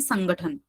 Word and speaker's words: संगठन: आती है बोलने में, परञ्च वदामः संगठन, मतलब ग आगच्छति परञ्च संगठन, घ घ घ, तत्र अल्प प्राण अस्ति, महाप्राण नास्ति।